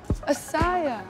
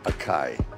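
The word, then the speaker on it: Açaí: You weren't even saying it properly. Asaya. No, Akai.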